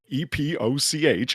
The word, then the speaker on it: Epoch: you for not saying epic I appreciate that uh some people do drunk right you giggled right people pronounce EP o CH as epic and don't do that Epoch epic I know